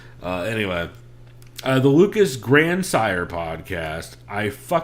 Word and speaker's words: Grandsire: ] episode so uh anyway uh the lucas grandsire podcast i hate that every time i type out the lucas grandsire podcast my google notes tries